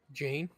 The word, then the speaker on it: Jane: Darzin, Jane. Darzin, you Jane. It rhymes with Stained Pane.